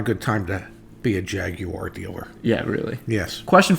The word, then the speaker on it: Jaguar: opposite jaguar is is i tried intentionally to say jaguar jaguar yeah well it is jaguars the right way to say it and and jaguar